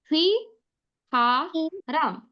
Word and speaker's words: 휘파람: Then second word we got was whistle, and like sir explained, the first way to pronounce it is Hui Ha Ram.